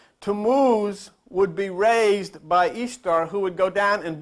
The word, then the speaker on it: Ishtar: Tammuz's spouse's name was Ishtar, pronounced Easter. Ishtar. You pronounce it Ishtar. They pronounced it Easter.